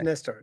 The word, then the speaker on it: Nestor: So it's just Nestor. No, it's Nestor. It's a bit different where we play. If we're in Norway, that's a different kind of pronunciation. And if we're like in America, which you said it, Nestor. But Nestor is the way it should be pronounced.